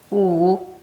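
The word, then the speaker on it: 舞: And first of all, how do you pronounce that in Chinese? Guang Chang. Guang Chang. Yeah, means square or plaza. Okay. Wu Wu.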